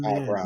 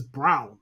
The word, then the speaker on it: Braun: Christian Braun. Brown. Yes, yeah. Christian fucking Braun, and his name is Brown. If you want to be fucking Brown, spell your name B-R-O-W-N.